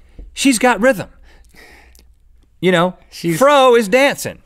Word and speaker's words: Frau: Or Frau (pronounced "Frow") dancing.